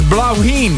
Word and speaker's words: Bláithín: He wrote, it's pronounced as Bláithín.